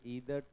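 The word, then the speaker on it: either: तुम लोग क्या बोलते हो, ईदर पढ़ते हो या आइदर बोलते हो? ठीक है, फिर ठीक है, चलो मेरा प्रोनाउंसिएशन सही है इसका मतलब। फ्रॉम ईदर डायरेक्शन, इसका क्या मतलब है?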